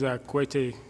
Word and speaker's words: Kwete: My real name is Kwete, but I was shortened for. The K is silent.